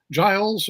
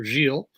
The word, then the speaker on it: Giles: guest my guest is Giles or jeel I I use the French pronunciation because that's what I learned when I first met him um quatra who is